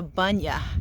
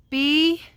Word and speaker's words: bunya: See, that's a bunya. She had to spell it for me. B-U-N-Y-A, a bunya tree.